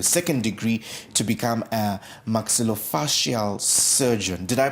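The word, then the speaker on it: maxillofacial: Now Paulini here is a you are a qualified uh electrical engineer and currently pursuing your second degree to become a maxillofasial surgeon. Did I pronounce that right?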